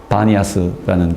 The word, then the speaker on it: 바니아스: 터져 나오는 그 첫샘이 바니아스라는 곳에 터져나온 셈입니다 아 다니아스라고 부르는 것은 아랍 사람들이 팬이란 발음을 피 발음을 못해서 b라고 발음하므로 반하라고 부르다가 바니아스라는 지명으로 굳어졌습니다 그래서 저곳에 판신 전